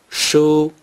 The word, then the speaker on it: 书: Book or books in Mandarin Chinese is pronounced 书.